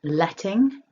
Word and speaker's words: letting: With letting, stress the first syllable and you want that nice ting up in the nose.